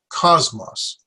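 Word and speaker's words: κόσμος: cause moss cause moss I had the accident on the first syllable so it's mas and so I put my stress on the first syllable cosmos how many there are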